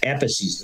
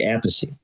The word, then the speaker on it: Appice: because they dead uh it used to be Ephesus the right way to say it okay that's what I thought all right but what happened was Carmine played with Rod Rod Stewart and Rod could never say apathy so yeah crazy so